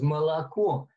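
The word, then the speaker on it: молоко: So that there was a word for milk in Russian, moloko is the spelling. But the way she said it was moloko. And she had three different pronunciations for the O, the O, and the O.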